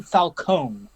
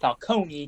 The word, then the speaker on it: Falcone: marone and falcone also it's pronounced falcone because he's an italian gangster and that's how italian works right i wasn't really